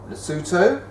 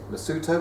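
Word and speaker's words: Lesotho: lived in those areas luto luto which is spelled l s o t h o here Swaziland which was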